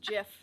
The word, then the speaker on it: GIF: Zara's yelling at me saying it's pronounced Jif.